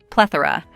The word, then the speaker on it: plethora: stress is on the first syllable PL plethora We Lay stress on PL say it with me plethora Sarah let's look at